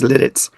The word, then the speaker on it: Lititz: We went to Lidditz, which is Lititz, pronounced Lidditz, But where they have a major pretzel place.